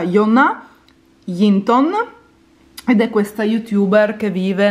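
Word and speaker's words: Jonna Jinton: vedere lei è une che si chiama si pronuncia jona linton vede questa youtuber che vive nel nord della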